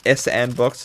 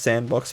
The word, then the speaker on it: S&box: It's not pronounced S&Box. It's pronounced Sandbox. But you know it. The way it's written on there, I'm saying S&Box.